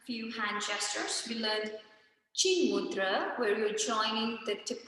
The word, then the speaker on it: mudra: the chat here and it's mudra it's not mudra but it's just mudra a very short syllable of mudra okay so theana mudra